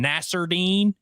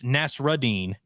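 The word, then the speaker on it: Nassourdine: a french guy uh people kept calling him Nasser deine and it's nasrine and he he like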